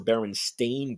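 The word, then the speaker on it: Berenstain: now the proper or the accepted is b r n s t a i n like stain you know like you stain something but a lot of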